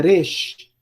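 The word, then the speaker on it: ריש: O nome dessa consoante aqui é Resh. Resh. Resh. E ela tem o som de um R. A gente poderia dizer um R fraco, alguns falam um R enrolado.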